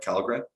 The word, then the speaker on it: Källgren: Am I pronouncing that right? Källgren?